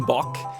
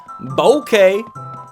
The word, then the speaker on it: Bok: But also, some people said that it's pronounced bokeh, which I can see it's a B-O-K, so bokeh. Instead of okay, it's bokeh. Man, I love all the extra particle effects and stuff.